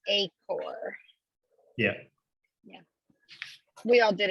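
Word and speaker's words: Achor: name yeah i know it looks like it should be h or but it's a core yeah yeah we all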